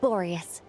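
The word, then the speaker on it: Boreas: Anyway, Knight of Borius, please accept this gift in recognition of your great virtue. Thank you for pronouncing Borius correctly, not like Parker.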